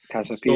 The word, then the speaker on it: Casa Pia: What's the pronunciation? Casa Pia.